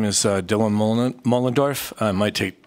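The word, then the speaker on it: Moellendorf: My name is Dylan Mullendorf. I might take 2 minutes to spell that, but it's M-O-E-L-L-E-N-D-O-R-F.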